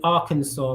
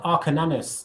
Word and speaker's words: Arkansas: in Arkansas, where I've been Arkansas before.